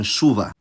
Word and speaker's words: chuva: Meanwhile, ch is pronounced [ʃ], like in chuva.